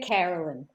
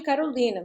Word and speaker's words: Caroline: Em inglês, seria Carolyn. Em português, eu me chamava de Carolina, mas ninguém queria me chamar de Carolina. Todo mundo queria pronunciar Carolyn. Aí saiu Carolyn, o mais fácil para o brasileiro.